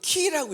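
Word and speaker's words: Χ: 영어의 X지만 헬라어는 이거를 뭐라고 했냐면, 헬라어로는 키라고 읽어요.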